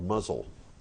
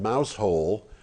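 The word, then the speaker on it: Mousehole: but but the town the town is called muzzle okay and doesn't muzzle but it is spelled MOU s ii h 0 l e all the muzzle and the reason it's called mouse hole in the in the way that nor most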